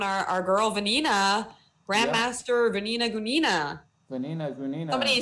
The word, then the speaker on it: Gunina: girl, Vanina, Grandmaster Vanina Gunina. Vanina Gunina. Somebody said I said that wrong, though. I think it's Gunina, right? Gunina, yeah. I believe the... Gunina, yes. Yeah, I believe the accent's on the U.